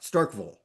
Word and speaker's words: Starkville: Is the pronunciation right? Starkville.